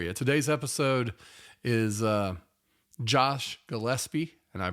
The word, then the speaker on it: Gillespie: Today's episode is Josh Gillespie, and I pronounced it correctly that way.